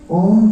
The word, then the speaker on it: ओम: लेकिन अगर आप उच्चारण करेंगे तो अ उ म तीन ही अक्षर आते हैं।